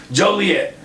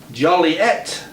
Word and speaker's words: Joliet: for a minute guys good eats popcorn alright Joliet town fathers reflect in the pet peeve of hearing their town's name mispronounced Joely Joely at which that is how